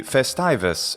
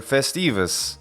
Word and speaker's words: Festivus: latin preserve the accent as the accent falls on the e in latin it should also in english and be festivus or festivus but if we actually